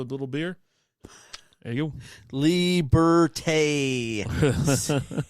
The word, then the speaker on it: Liberté: Liberté. Say it like yours. Liberté. Liberté. It's got the E with the emphasizer on it.